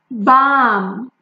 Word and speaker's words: balm: Balm, balm. Like lip balm or any other ointment used for body, it's balm.